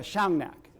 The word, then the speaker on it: Shungnak: school the community where Roger is is um shungnak and forgive me if I'm mispronouncing pronouncing sh thank you thank you Shang neack Shang thank you okay and correct me when